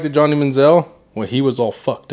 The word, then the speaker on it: Johnny Manziel: I learned a lot watching that Johnny Manziel. Am I saying it right? Yeah, Johnny Manziel.